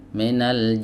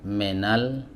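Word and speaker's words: مِنَ: Harakat kasrah ini harus dibaca dengan sempurna, Teman-teman. Nah, terkadang ada yang membacanya itu tidak sempurna seperti ini. Misalnya minal minal jinnati wasnas. Minal jinnati wasnas. Nah, ini kasrahnya tidak sempurna ya. Jadi bukan menal tapi minal.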